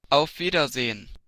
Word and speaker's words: Auf Wiedersehen: Pero aquí cambian, miren, la S vibrante por la silbante. Y esta la pronuncian más como una E que como shba.